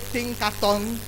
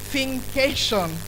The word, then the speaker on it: Thinkation: please listen carefully, because I've heard all sorts of pronunciations. I've heard Thinkaton, I've heard Think Nation, and all sorts of funny pronunciations. Please, it's a creative measure of thinking and education, is Thinkation.